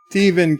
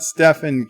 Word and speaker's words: Stephen: the Stephen King it's it's Stephen King not Stefan king and claimed blasphemy did